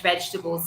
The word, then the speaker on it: vegetables: okay vegetables vegetables okay so no more vegetables and no more comfort tables okay comfortable vegetable comfortable